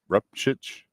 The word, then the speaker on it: Rupchich: I think it's Rupchich. Something like That's correct. Rupchich.